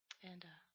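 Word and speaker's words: あ: you want E E and O is oh is not a long sence not o it's O A is uh like the A and father it's a not the a as in cat you don't want that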